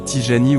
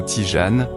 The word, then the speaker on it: Tijani: branche de l'Islam aujourd'hui la confrérie tyjani ou Tijane prononcé en fonction de sa situation géographique est très largement répandue